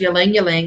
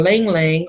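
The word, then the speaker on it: ylang-ylang: And this one right here is Ylang Ylang or Lang Lang, or so many different ways people pronounce that.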